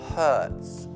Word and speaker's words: hurts: Poi c'è la frase my, facciamo braccio per adesso, my arm hurts. Ricordando la pronuncia H, come pulire molto forte in inglese, ok?